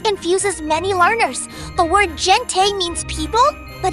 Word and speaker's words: gente: The word gente means people, but it is not pronounced like English gentle with a soft J sound.